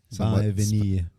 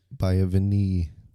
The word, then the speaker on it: Vanille: So this, Jacob's going to have to pronounce it for us. A resident French. Vanille. Vanille.